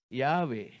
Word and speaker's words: Yahweh: How many of you know God's name is Yahweh? Yahweh. In other words, the sound of way, way.